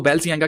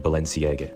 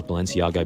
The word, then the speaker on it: Balenciaga: लोग इसको बैलसियांगा कहते हैं, कोई बालशियांगा करके बोलते हैं, लेकिन उसने इसकी सही जो प्रोनाउंसिएशन है वो बताई है कि कैसे इसको बोलना है।